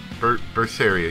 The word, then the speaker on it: Berseria: 250 and welcome back to tales of porphyria verse area yes that's how you say it I messed it up a couple times last time it's not first first area first area cinnamon we're back now